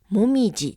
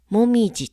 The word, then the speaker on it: 紅葉: 歯と書きますでも何々がりがつく時だけは読み方はもみじです高洋と書いてもみじと読むんですだから紅葉狩りとは読みませんもみじ狩りこれ気をつけてくださいねそうこのもみじ狩り